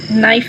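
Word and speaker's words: knife: site में GH silent है, whole में W साइलेंट है, बेनाइन में G साइलेंट है, डिज़ाइन में G साइलेंट है, नाइफ में K साइलेंट है, थंब में B साइलेंट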